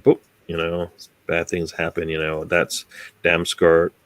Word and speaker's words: Damsgaard: That's Damsgaard. How do you say his name? Damsgaard.